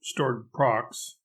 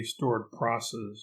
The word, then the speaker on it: stored procs: they did it note stored procs rhymes with bored crocs as in rocket isles rather than chord process which while perhaps the more consistent way to pronounce it is just plain wrong due to its oral